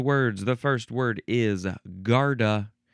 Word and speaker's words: garda: The first word is garta. G A R D A.